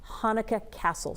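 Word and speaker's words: Hanneke Cassel: dance hall and Kittery her name is pronounced Hanukkah Castle she's a Boston area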